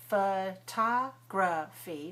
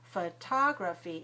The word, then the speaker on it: photography: When we have the word photography, 4 syllables, photography is stressed on the second syllable. So we stress with a large puff of air.